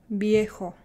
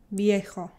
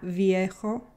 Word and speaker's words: viejo: So the V in Spanish is not typically very strong, like not viejo. Some people do pronounce it like that, but mostly it's almost indistinguishable from a B.